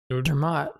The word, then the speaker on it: Dermot: Okay, well, as a first name, when there's 1 T, is that pronounced Dermot or Dermo? Dermot.